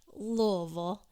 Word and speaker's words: Louisville: Louisville is how we pronounce it here in Kentucky, and that's where I grew up, and I have never attended Derby or Oaks, not officially.